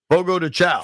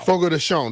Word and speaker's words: Fogo de Chão: Fogo de Chow. Fogo de Chão, they said. That's what it is.